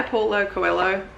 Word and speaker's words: Paulo Coelho: It's by Paulo Coelho.